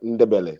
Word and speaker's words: Ndebele: Like N and D sounded like they sound the same, like Ndebele. So the N and D are together.